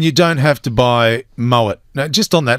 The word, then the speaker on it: Moët: It's not Maui, it's Moët.